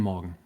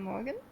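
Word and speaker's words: Morgen: Guten Morgan. Yeah. Perfect. Like Morgan but with no e less of an a.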